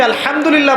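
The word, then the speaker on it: الحمد لله: উচ্চারণ কোথা থেকে করতে হয়? মাঝখান থেকে। মাশাল্লাহ। এখানে যদি আপনি আলহামদুলিল্লাহ বলেন অর্থ হচ্ছে সমস্ত প্রশংসা কার জন্যে?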